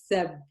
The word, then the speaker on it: سب: اثنين is سب.